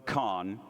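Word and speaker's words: Kahan: In his song, Homesick, Noah Kahn, and Sam confirmed that's how you say it, speaks of homesickness in a new, fresh way.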